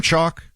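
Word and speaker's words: Choq: Chalk is spelled with a Q as in c h o q.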